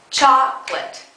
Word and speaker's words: chocolate: be there for example the word chocolate in English has only two syllables chocolate think about how you